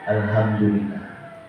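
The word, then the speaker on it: الحمد لله: ngasih aku pula muda bapak tadi baca alhamdulillah harusnya bacanya Alhamdulillah ya. Alhamdulillah. Kau baca-baca paku ustaz aku ngasih tahu itu karena ha di itu bukan ha besar tapi hanya ha kecil. Beda artinya pak.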